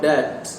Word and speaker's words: debt: The opposite word of the word debt is asset or in debt. Here B is silent.